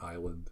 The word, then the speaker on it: island: maybe it's like an island situation island is a silent s right oh yeah it